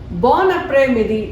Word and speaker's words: bon après-midi: So it is linked. Bon après-midi. Never read it as bon après-midi. That is wrong.